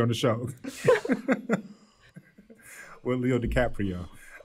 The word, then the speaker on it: DiCaprio: DiCaprio? did I pronounce his name correct?